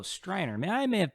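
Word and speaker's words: Streiner: Sterner or is it Striner? Oh, Striner.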